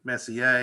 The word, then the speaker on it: Messier: It was Messier, and I finally realized it's French and very quickly started saying Messier, and I'm proud of my roots.